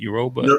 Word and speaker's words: Yoruba: Yoruba. Yoruba Yeah, twin. yeah, the Yoruba twins. And yeah, I think Michael B. Jordan was speaking on the carpet about how I don't know, he got a Yoruba name or some shit like that.